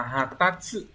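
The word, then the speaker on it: 発達: Từ này đọc là hatatsu. Hatatsu.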